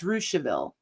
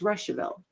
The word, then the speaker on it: Rouseville: you can pronounce that either russeville or rouseville if you're local that's rouseville if you're not local it's russeville so there's that little